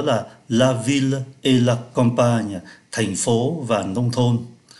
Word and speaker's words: campagne: la ville et la campagne, thành phố và nông thôn. Đây chúng ta để ý, ký tự M ở đây được phát âm là N do bởi đứng trước P.